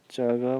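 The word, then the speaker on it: 这个: यसको क्यारेक्टर चाहिँ यस्तो रहेको छ, अनि उच्चारण च रहेको छ। दिस वान भनेको चग भनेर भनिन्छ चाइनिज भाषामा।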